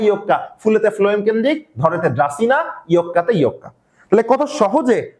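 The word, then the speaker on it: Dracaena: ধরেনা সঠিক উচ্চারণ কি? ড্রাসিনা আর ইকা দিয়ে ইকা নামে একটা প্লান্ট আছে।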